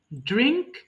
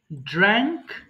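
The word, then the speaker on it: drank: দেখো ড্র্যাঙ্ক মানে আমরা কিন্তু এখানে উচ্চারণটা ভুল করি, অনেকে বলি ড্রিঙ্ক, ড্রাঙ্ক, ড্রাঙ্ক, কিন্তু এখানে এ আছে, তাই না? এই কারণে এটা ড্র্যা হবে, ড্র্যাঙ্ক, ড্র্যাঙ্ক।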